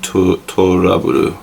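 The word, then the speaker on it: トラブル: So the way Japanese would say trouble is basically just like the name is spelled, To Love Ru, except for more like Toraburu basically.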